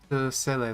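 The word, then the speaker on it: Seele: And then in Chinese, her name is pronounced just like seal, sir. So, I don't know. I've just gotten so used to Sele, though. Hi, Bronya. I'm Sele. Hello, Sele. Yeah, that's how they pronounce it in the Chinese one.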